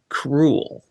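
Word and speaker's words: K'rul: Because this elder god's name, you could also pronounce it as cruel.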